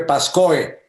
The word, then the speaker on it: Pascoe: retardo pasco o para se escribe pascoe pero hasta donde entiendo se pronuncia pasco al pie lo que